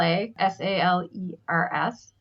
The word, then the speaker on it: Salers: another one called Sal s a l e r s so salers I guess if you pronounced it englishwise and that actually comes